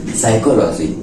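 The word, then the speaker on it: psychology: हम लोग जैसे की साइकोलॉजी क्या बोले साइकोलॉजी साइकोलॉजी में पी आता है और पी का उच्चारण नहीं करते हैं उसी तरह नहीं करते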